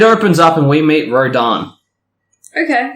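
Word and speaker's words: Rodin: It opens up and we meet Rodan. Okay. Which is definitely spelled different to how it's pronounced.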